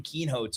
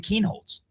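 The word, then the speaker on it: Kienholz: and I think Lincoln Keenhot. I mean he's plus 7,000. Wait, say his name right. What did you say? Lincoln Keenholds. Oh, I didn't hear the L.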